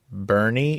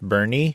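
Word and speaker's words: Boerne: san antonio it's called bernie it's spelled b-o-e-r-n it's a german word but it's pronounced bernie and so maybe i'll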